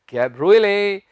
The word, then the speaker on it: cabriolet: इसमें भी हम टी नहीं उच्चारेंगे। ये जितने भी शब्द हैं लास्ट में देखें ईटी आ रहा है, इन सभी में हमने टी नहीं प्रोनाउंस करनी। तो हम देखते हैं CABRIOLET, इससे हमने कैब्रोलेट नहीं कहना, इसका उच्चारण है कैब्रुले।